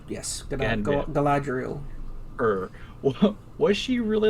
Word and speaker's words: Galadriel: Correct me if I'm wrong, but it's Galadriel? Is that how you say her name? Galadriel, yes, Galadriel.